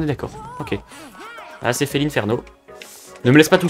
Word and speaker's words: Félinferno: Mais la prononciation officielle, c'est bel et bien Félinferno, malheureusement. Et du coup, dans Smash Bros, quand tu sélectionnes Félinferno, ben, le commentateur, il dit Félinferno.